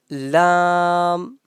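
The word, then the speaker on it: لام: calf next one is lamb lamb from the edge of the tongue and the part of our palette which is quite near to our upper front teeth lamb lamb lamb lam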